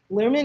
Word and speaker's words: Baz Luhrmann: Lerman, is that how you pronounce the director's name? Yeah, Baz Luhrmann?